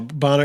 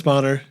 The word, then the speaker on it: Bonner: So it's Bonner and I'm still Boner. an immature. Yeah. Boner would be my porn name. No, Bonner. It's Bonner. There's two N's. And I always since kindergarten, it's been mispronounced, and it doesn't faze me at all anymore.